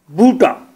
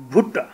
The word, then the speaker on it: Bhutta: You don't pronounce me Bhuta. This is Bhuta. Mostly the English people used to call me, hello Mr. Bhuta. Bhuta na? Bhutta. BHUTTA.